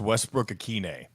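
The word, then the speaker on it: Westbrook-Ikhine: Ikaney, John, how is it? He has a hyphenated name now. Yes, I believe his last name is pronounced Westbrook Akine. With the hyphenation.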